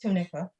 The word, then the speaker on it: Tunica: the past you mentioned tunica people am i pronouncing it correctly yes tunica all right i'm interested to know a little